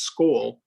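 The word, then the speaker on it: skol: would drink akavite and skull s-k-o-l is pronounced skull they would scold the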